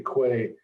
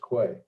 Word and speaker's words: Kwai: If I say Kway, like we spell it Kwai, and the Willisticooks spell it Qey, right? So but it's still pronounced Kway.